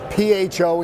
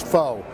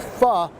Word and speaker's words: pho: this name on restaurants, P-H-O, and you think it's pho. It's not. It's pronounced pho, or according to some folks, pho.